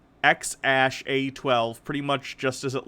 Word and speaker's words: X Æ A-12: the name is pronounced ex ash a 12 pretty much just as it looks AE is a character used in some languages including Danish and Norwegian is often pronounced ash but some people around